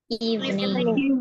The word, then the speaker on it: evening: Nah, teman-teman, kalau teman-teman masih melafalkan dengan 3 different syllables, mulai hari ini diubah ya. Karena untuk pelafalannya ini teman-teman nggak dilafalkan dengan 3 suku taka, bukan suku kata.